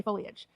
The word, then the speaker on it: foliage: I've never heard anybody in our area say foliage.